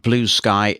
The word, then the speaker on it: Bluesky: attention of late is called Blue Sky that's how it's pronounced but it is all one word and there's no mixed case so when your screen reader says that it may well pronounce it as Bluesky even its name conveys